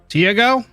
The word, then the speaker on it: Tiago: T as in teapot. Oh, Tiago. Okay. Those rumors are just rumors, right? The ghost ship, the cultists, the sea monsters. Tiago.